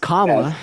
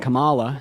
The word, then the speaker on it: Kamala: the obvious implication yeah her name is pronounced Kamala not Kamala so why do you